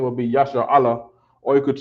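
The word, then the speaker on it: ישראל: in in the word Yasha Allah which is the uh the Hebrew pronunciation for Israel Israel all right so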